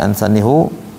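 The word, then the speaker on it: أنسانيه: Ya, ansanihu dhamir ha hu ya yang ada setelah harakat kasrah dalam kaidah nahwu seharusnya dibaca kasrah seperti kalimat fihi. Habis fi jadi hi bukan fihu kan, fihi. Tapi riwayat Hafiz an Asim pada kalimat ansani dibaca dhammah.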